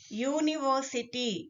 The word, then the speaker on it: university: University. Though here we have U letter, we need to focus on the sound, not on the letter.